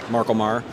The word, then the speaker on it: MarColMar: Dave the owner of Marco Marr and uh you said it right fantastic okay I wasn't